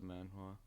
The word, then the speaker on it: manhwa: Even though it kind of looks like it should be hua, but the H is silent.